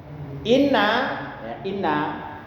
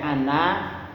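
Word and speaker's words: إنّ: Jadi inna hamzah inna itu apa di kasroh, bukan bacanya ana.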